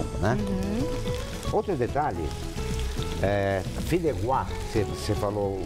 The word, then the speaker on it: Fideuá: Outro detalhe, filéguá, você falou o nome certo, porque vem do catalão. Ah, tá. Então o catalão, o A, eles têm essa pronúncia de G, né?